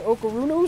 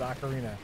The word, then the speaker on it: ocarina: Why do I say Okarunu so weird? Because I'd only seen it in print and absolutely never heard it pronounced until recent days. That's so shocking to me. Like everyone I've ever spoken to has always called it Ocarina, and just known how to pronounce it, except for you.